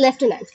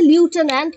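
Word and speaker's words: lieutenant: কিছু ওয়ার্ড আছে যেগুলোর উচ্চারণের সাথে স্পেলিং এর মিল নাই, যেমন এই লেফটেন্যান্ট, লেফটেন্যান্ট স্পেলিংটাই আমরা লিখছি লিউটেন্যান্ট কিন্তু উচ্চারণ করছি লেফটেন্যান্ট, তো এটা দেখে আমাদের কনফিউজ হয়ে যাওয়ার সমূহ সম্ভাবনা থাকে।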